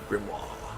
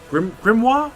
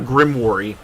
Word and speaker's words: grimoire: Grimoire, I think is how you say it. Like, I know it's not Grimoire.